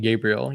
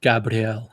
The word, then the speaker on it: Gabriel: He just like Frenchified his name instead of saying Gabriel. You're like Gabrielle.